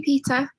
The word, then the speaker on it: Peta: you how are you Peta says hello from a very wet North Wales and my name is pronounced just like the boy's name Peter oh sorry Peter um just a feminine